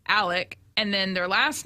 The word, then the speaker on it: Alex: Yeah, it's spelled like Alex, Alex, but it is pronounced Alec, and then their last name is pronounced or spelled phonetically Murdaugh, but they say Murdoch.